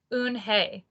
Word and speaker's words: Unhei: turned to joey she nodded slowly yes it's pronounced un hey and it and it means grace mr kim added ooh oon hey joey said slowly and this time perfectly it